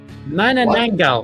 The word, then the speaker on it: Manananggal: Manananggal. What? There you go. Pronounce it properly, right? Manananggal, which is a demon that...